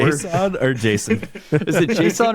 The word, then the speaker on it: JSON: Yeah, it's not Jason. It's JSON.